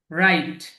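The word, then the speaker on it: write: রাইট। রাইট। খেয়াল করবেন এটা। রাইট, এই যে শুরুতে ডাব্লিউ আছে, কিন্তু ডাব্লিউ এর উচ্চারণটা বলার মধ্যে আসবে না।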